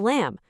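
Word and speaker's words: لام: Now, phonetically, lam is pretty straightforward. It's just like the English letter L.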